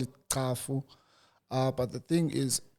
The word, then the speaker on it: Cafu: Ka because it's easier for for everyone to pronounce it so it's kafu okay yeah for me it's kaf I don't